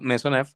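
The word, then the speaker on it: Maisonneuve: Se llama maisonel o se pronuncia mesonev, que es básicamente una lesión ligamentaria.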